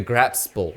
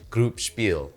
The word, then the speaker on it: Gruppspel: to use google translate the correct pronunciation is group spiel and speaking of expensive